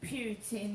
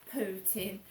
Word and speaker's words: Putin: Obviously the sun today, and it's pronounced Putin, not Putin.